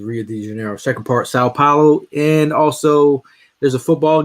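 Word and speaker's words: São Paulo: I was with somebody this weekend that said San Paulo. San Paulo. Sao Paulo.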